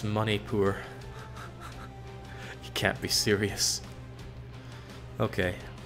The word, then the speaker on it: Manipur: of my face though it's pronounced money poor you can't be serious